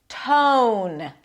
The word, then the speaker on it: tone: T on the teeth and then it releases to a th set the tone. Long O is in go. The T is slightly aspirated.